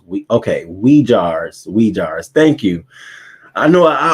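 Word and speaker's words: Uyghurs: It is pronounced we jars.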